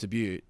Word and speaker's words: debut: but the chance to seriously make his test debut test test debut debut or debut i should